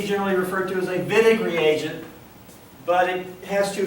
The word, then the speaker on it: Wittig: uh okay the vid reaction uh looks like viig but we pronounced it vid least that's what the Germans tell us it's